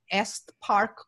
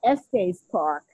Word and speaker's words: Estes Park: the stanley hotel in est park colorado i hopefully i'm pronouncing it okay it's a beautiful location you were close it's the stanley hotel at estes park thank you uh colorado